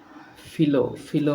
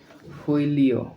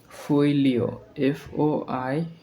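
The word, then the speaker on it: folio: আচ্ছা, এরপরে আছে ফিলো মানে হচ্ছে একই সাথে কাজ করে এরকম। আচ্ছা, পত্র বা পাতা। এই ফিলো মানে FOILO ফইলিও। উচ্চারণটা আমার একটু মিস্টেক হয়েছে, সেটা হচ্ছে উচ্চারণ হবে ফইলিও ফইলিও মানে কি?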